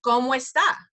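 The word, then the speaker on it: cómo está: O and an e it's como esta it just slides together and sounds like one word when people are talking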